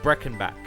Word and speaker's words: Breakenback: So the character's name is Breckenback, but it's spelt like break and back because I think the pun is meant to be that he's a stunt guy, don't break your back.